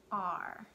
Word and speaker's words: are: learn the word are the word are this doesn't sound really anything like the way that it's spelled we don't really hear the a and the way that we normally we don't really hear the e it's not a cvce word where the e would make the a say a